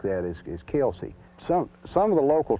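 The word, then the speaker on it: Kilsyth: of the Corbin division these are pronunciations kind of indigenous to the area but chasa which is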